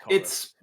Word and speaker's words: Chorus: It is pronounced Chorus.